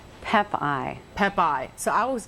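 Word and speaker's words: Pepaj: your last name so we say it right pep ey pep ey so I was getting it right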